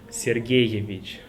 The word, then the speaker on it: Сергеевич: Also, I want to emphasize this part, like this one, Sergeyevich. So you pronounce double E, Sergeyevich.